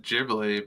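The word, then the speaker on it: Ghibli: It's Gibly. I thought I said jibli, but jibly.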